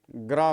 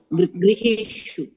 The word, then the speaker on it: गृहेषु: हाँ, कोई इसका उच्चारण ऐसे कर देते हैं, ग्रह कर देते हैं। ग्रह बोलना नहीं है, क्या बोलना है? ग्रो या तो ग्री, जो बोलना है। हाँ, गृहेषु।